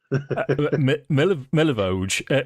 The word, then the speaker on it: Milivoj: Milivoj. Well, you see, it's because it's a pronunciation thing. It's Milivoj. Milivoj. Milivoj. Hang on. It's like close to Mojave, isn't it?